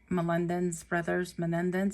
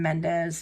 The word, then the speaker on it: Menendez: name wrong, but the Menendez brothers, I forget how to say it. But I always want to call them Mendez, and that's not how you say it.